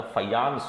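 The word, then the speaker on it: Fajans: बोले पूया, ठीक है, तो ये जे जो है वो वाई प्रोनाउंस होता है, फयान्स रूल ऐसे ये पढ़ा जाएगा।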